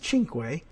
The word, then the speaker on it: Cinque: I happen to know that you would pronounce that as Cinque, Italian.